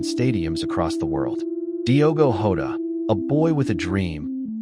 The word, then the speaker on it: Jota: know him as Dio Hod. The J pronounced like Hoda in Portuguese, a name that soon echoed in every major footballing arena.